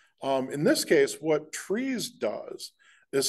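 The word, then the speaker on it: TRIZ: General problem uh in trees there's a very formal TR R Iz it's pronounced trees it's actually a Russian acronym but essentially it's uh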